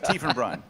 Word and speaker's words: Tiefenbrunn: Tiefenbrunn. Tiefenbrunn. Almost. Only once. Tiefenbrunn.